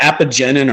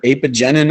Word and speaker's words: apigenin: There's one called apigenin or apigenin.